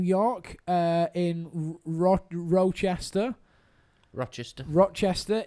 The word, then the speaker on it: Rochester: uh in Ro roachester Rochester Rochester in a roachester that's how the Americans say it in a well there